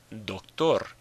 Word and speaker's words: doctor: Doctor. Doctor. Ends in an R, not an N or an S, so the stress is on the last syllable.